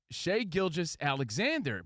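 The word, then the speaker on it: Shai Gilgeous-Alexander: Is it Shea? Is it Shai? Is it Gilgis? What's up, Gilgis? It's Shea Gilgis Alexander.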